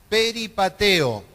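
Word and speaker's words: περιπατέω: en el versículo 10 viene una palabra griega que se pronuncia de esta manera no peripateo y esta palabra es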